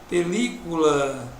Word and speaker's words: película: E se eu digo película, veja, película, a sílaba tônica, última, penúltima, antepenúltima. Quando a sílaba tônica é a antepenúltima, a palavra é proparoxítona.